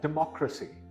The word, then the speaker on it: democracy: It's pronounced as democracy. The second syllable is stressed.